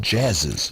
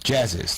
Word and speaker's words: Jazziz: It's pronounced Jazziz. Jazziz.